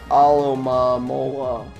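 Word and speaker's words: Alomomola: And that is it for this Alomamola. That's how you pronounce it.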